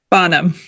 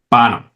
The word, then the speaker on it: Bonham: Bonham. Bonham. I always pronounce that wrong. I apologize for like the like the Led Zeppelin drummer. John Bonham. John Bonum.